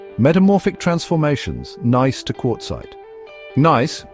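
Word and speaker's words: gneiss: Nice, pronounced nice, is a common foliated metamorphic rock that often has alternating bands of light and dark minerals.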